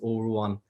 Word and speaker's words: Ruane: You can see my name, there's Ruane, but it also has in brackets Ruane. It's how you pronounce that. And it's just the Irish language version of my name.